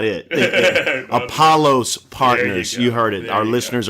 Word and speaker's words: Apollos Partners: talk to you it's exciting we'll say it's Apollo's partners please call us tomato tomahto that's not it Apollo's partners you heard it our listeners are very clear